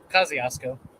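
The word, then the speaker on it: Kosciusko: How do you pronounce that county, though, Caleb? Is it Kosciuszko? Kosciuszko.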